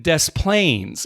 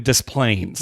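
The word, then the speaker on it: Des Plaines: to pronounce Plains yeah you pronounce the S even though you don't pronounce pronounce the s in Illinois you do in dis planes wa they are really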